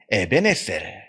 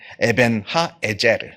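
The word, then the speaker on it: אבן העזר: 기념비를 우는데 그 그 기념비의 이름을 에벤에셀 더 정확하게 발음을 하자면 에벤 하 에제르 히브리어로 에벤이라고 하는 것은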